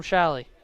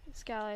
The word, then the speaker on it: Scally: Oh, Shally or Scally? Is it Scally? Scally, I think. I think I've been saying a name wrong for a while at this point. It is Yeah, Scally. It's I Scally. apologize. I apologize to Maggie Scally for that.